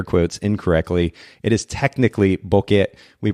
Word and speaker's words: Bokeh: putting in air quotes incorrectly it is technically Bukit we pronounce it Boca for ease of use and so I just